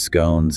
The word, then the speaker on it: scone: British, involving tea, sandwiches, scones, and cakes. And the guide makes that fun observation about the two common ways to pronounce scone rhymes with gone or rhymes with cone.